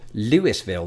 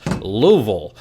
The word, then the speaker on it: Louisville: for stopping short of Louisville they might as YouTube commenters have in the past remind me that they somehow articulated in just two and a half syllables Louisville the city was named